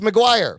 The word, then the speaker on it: Maguidhir: It says it's pronounced Maguire.